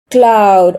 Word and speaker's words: Claude: So I use Gemini or Cloud or Claude or however that's how they pronounce that. Some people say E is silent. Um, so Claude or uh Chad GBD.